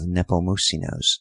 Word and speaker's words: Nepomusino: It often amused me to hear Dona Mercedes calling to him from the house and throwing the whole emphasis on the last syllable in a long, piercing crescendo.